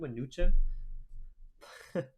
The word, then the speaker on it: Mnuchin: Is it Mnuchin?